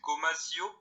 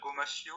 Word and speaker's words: gomasio: faire ça aussi avec en France c'est bizarre la prononciation, c'est gomasio. Ah, ça me dit quelque chose, ouais. Ça me dit quelque chose. Ça veut dire, ça devrait se dire gomashio je pense, parce que c'est en